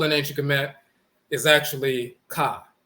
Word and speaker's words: Ka: The term soul in ancient Kemet is actually Ka. They'll mispronounce it, define it as spirit, but it's really Ka, the soul.